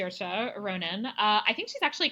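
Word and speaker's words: Saoirse Ronan: because I can never actually remember how to pronounce it right sery Ronan her name is sea Ronin right and her first name her first name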